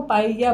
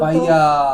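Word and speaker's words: paella: Double L ना, ये Spanish में या बन जाता है या।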